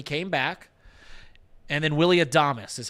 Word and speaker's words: Adames: And then Willie Adames is how you pronounce his last William name. 86. Adames.